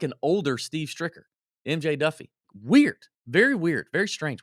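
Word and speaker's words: Daffue: And it is pronounced Duffy. It's not Diffuse or whatever you want to call it.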